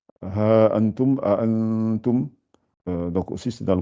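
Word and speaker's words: أَأَنتُمْ: A'antum. A'antum. Donc aussi c'est dans le Coran. Donc surtout quand les deux A se suivent, prononcez-les bien. A, articulez bien.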